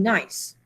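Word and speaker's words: gneiss: metamorphosed Rocks the hottest would be nice like not n i c g NE I SS okay I think I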